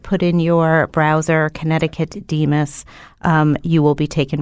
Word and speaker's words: DMHAS: Yes, if you just put in your browser Connecticut DEMIS, you will be taken right to it. And DEMIS is spelled DMHAS for Keith.